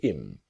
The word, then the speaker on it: him: So our focus is on him to im. The idea again about her to is native speakers don't always pronounce the letter H when we speak quickly.